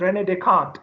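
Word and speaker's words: René Descartes: His name is Rene Descartes. The spelling is very complicated, so people pronounce it in a very weird way. but the pronunciation is Rene Descartes.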